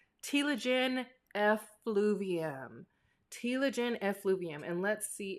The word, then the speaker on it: telogen effluvium: to name a few reasons as to why telogen effluvium might happen. I used to struggle super hard with pronouncing this word.